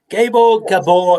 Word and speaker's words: Gabor: Did I pronounce it right? Yes, Gabor, it's even better. It's closer to the original pronunciation.